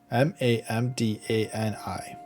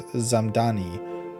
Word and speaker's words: Mamdani: From Fox News, Zohran Mamdani fires back at White House mispronouncing his name, Mamdani. Zohran Mamdani, New York City mayoral candidate, clapped back after the White House mispronounced his name as Zamdani in a viral TikTok set to Hollaback Girl.